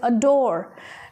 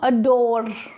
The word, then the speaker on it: adore: So the word is adore, not adore. Okay, R sound is very mild.